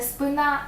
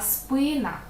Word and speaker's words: спина: все буде на і спина не спина а спина випадок усім дуже часто хочеться